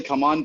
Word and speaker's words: CMON: How is that pronounced, right? So I think it's officially Come On, but I'm a creature of habit.